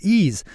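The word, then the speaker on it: Eaze: out in headlines let's quickly thank our sponsor ease California's a top one-stop website for legal marijuana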